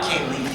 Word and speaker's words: Kaley: Yeah, Kelly, I heard an amazing story about how you got, sorry, Katie, sorry. I said it right. I thought you said Katie. I thought I said it wrong. Kaley.